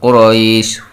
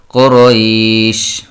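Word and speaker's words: قريش: লিইলাফি কুরাইশ, লিইলাফি কুরাইশ, এখানে এক আলিফ টান, এখানে তিন আলিফ টান, কুরাইশ, কুরাইশ, এটা হচ্ছে লিনের হরফ, কুরাইশ, লিইলাফি কুরাইশ, ইলাফিহিম, লাফিহিম, এখানে এক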